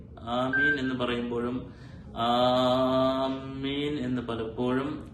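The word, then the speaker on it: آمين: അതുകൊണ്ട് ആമീൻ ആമീൻ എന്ന് പറയുമ്പോഴും ആമീൻ എന്ന് പലപ്പോഴും ആ ഹംസയെ അസ്ലിയായ മദ് കൂടുതൽ നീട്ടി പലരും ഉച്ചരിക്കാറുണ്ട്.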